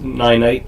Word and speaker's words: Ninite: you it's free and so the site is ninite and i an ite it's actually pronounced ninite if you've seen it before you've pronounced it